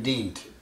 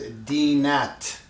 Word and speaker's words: dint: So this has to be pronounced as dinat, means your din. But in poetry, Persian poetry has measures and meters. Therefore, in order the meter of this to equal to that, you should not pronounce the A after N. So instead of saying dinat, you have to say dint. Omit the A.